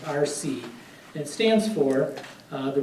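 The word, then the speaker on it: RSSEE: But we would call it the RC, R-S-S-E-E, okay, pronounced RC.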